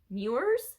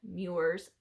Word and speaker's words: Muir: um john moore ah i looked up how to say his last name muirs i think that's how you say it um he's a famous